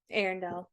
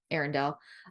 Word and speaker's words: Arendelle: Arendelle. Arendelle.